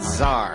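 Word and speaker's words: tsar: with a silent B and then Zar yeah it's a like a Russian Zar you everybody knows Apple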